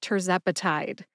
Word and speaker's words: tirzepatide: tepati has four syllables tur like turbocharged Zep which rhymes with pep uh which is a